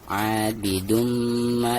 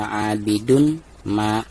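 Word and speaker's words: عَابِدٌ مَا: Abidumma disertai dengan dengung ya. Abidumma, seperti itu. Jadi bukan abidun ma, bukan seperti itu ya.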